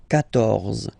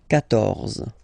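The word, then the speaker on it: quatorze: So remember, Q and U here, well, basically you've got to put this U vowel, because that's the rule in French, even if you don't pronounce it, okay? So you will get the sound K here, K, 14, 14, okay?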